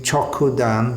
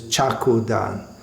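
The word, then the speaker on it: cakṣu-dān: So we sing Chokudan, but it's somehow or other many devotees pronounce this as Chakudan. So in Chaku in Bengali means a knife.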